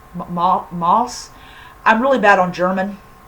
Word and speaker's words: Maus: So I think it's pronounced Moss. Moss.